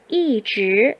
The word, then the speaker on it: 一直: 一直 이즈, 곧장이라고 하는 뜻인데요. 이즈의 경우에는 우선 우리가 주의해야 될 것이 발음입니다. 이즈의 이 이가 성조가 지금 몇 성으로 되어 있죠? 이즈의 이가 4성 표시가 되어 있죠.